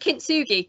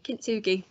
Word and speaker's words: kintsugi: segment and what what I think it's pronounced kintsugi kintsugi so if you look